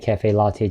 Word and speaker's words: caffè latte: 所以加埋就會係 cafe latte。Can I have a grande cafe latte to go?